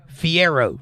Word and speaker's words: Fiero: not Ferrari the other one the little one Fiero that's it that's a fun car A friend